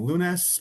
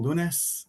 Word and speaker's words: Lunes: So Kensington, we're at 4207 18th Avenue, and My name is William Lunes, pronounced like Monday in Spanish. I always tell people Lunes, so it's usually easy to remember after that.